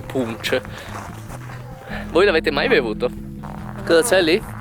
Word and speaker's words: punch: conosce ho scoperto che si scrive poco più lch che l'evo che si dovesse leggere pippo bonds o qualcosa del genere invece il barista mi ha spiegato che si dice proprio punch voi avete mai avuto